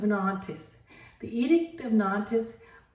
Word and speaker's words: Nantes: artist the Edict of nantis um or nante I would say nante is how you say it in French the huguenots precede Henry